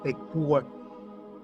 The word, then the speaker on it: Ekur: Joseph Farrell in his latest book, The Demon in the Eur is actually pronounced Ekur, this was um put it this way, the